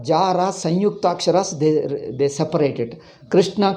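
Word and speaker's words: कृष्ण: Krishna ko Krishan they call it.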